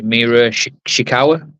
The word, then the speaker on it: Mina Shirakawa: on your tag partner I want to say Mera shawa a yeah that's how you say it be we'll be